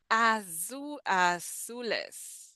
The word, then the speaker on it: azules: Latin American Spanish does not make too much of a difference between the Z and the S. So yes, azules. Some people will hear, will say azules, azules, or some people will pronounce the Z as an S. Azules, azules.